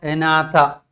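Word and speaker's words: Agnatha: under a division called anata G silent pronounce it as Nat a if jws are present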